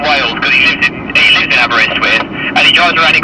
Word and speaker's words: Aberystwyth: We are in, you pronounce it better, Joe? Aberystwyth.